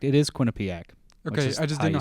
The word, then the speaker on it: Quinnipiac: York so you both are correct it is Quinnipiac okay I just didn't know how to pronounce it Quin uh yep it's the Bobcats